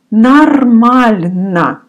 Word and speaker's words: нормально: And the answer to this question is нормально. It's written нормально. You remember that often Russian pronounce О like А. So you say twice here, instead of О, you pronounce А. Нормально.